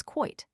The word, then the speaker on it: quoit: Yet again, there is quoit. Originally, the English pronounced it quate, but now they pronounce the diphthong as indoily. In the United States, the quate pronunciation remains.